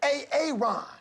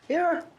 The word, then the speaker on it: Aaron: A aon. Aaron.